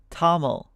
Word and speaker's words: TOML: files what I'm saying cargo how should I pronounce it toml all right um that's pretty cool so I